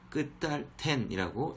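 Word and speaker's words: קְטַלְתֶּן: 뭐 이런 식으로 읽이는데 요 같은 경우는 요 쉐바모에 붙어가지고 끝탈템, 끝탈텐이라고 읽으시는 것이 좋습니다.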